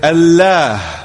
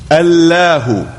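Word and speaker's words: الله: It is given tafkhim, which means emphasis. So that if we were to pronounce the word according to standard modes of Arabic pronunciation, we would say Allah, Allahu.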